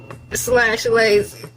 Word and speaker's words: Elay: It's me, LA, pronounced like LA, like the city.